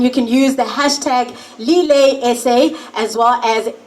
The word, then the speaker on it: Lillet: You can tag us at Lillet is our handle on Instagram, and you can use the hashtag LilletSA, as well as it's pronounced Lillet.